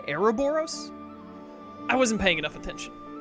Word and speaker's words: Ouroboros: It should be Ouroboros. Ouroboros. Because it's OS at the end. I think I did US at first. It's Ouroboros. Is how I would say it.